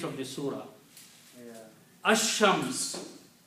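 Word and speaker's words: الشمس: Ash-Shams, al is not pronounced.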